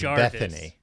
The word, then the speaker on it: Bettany: It's pronounced Bethany.